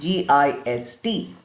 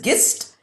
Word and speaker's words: gist: that is what we call as the gist g i s t g is not pronounced as gist it is pronounced as gist and this gist